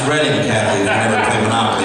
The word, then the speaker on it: Reading: I learned how to pronounce this when I was in Reading, PA. It's Reading, Kathy.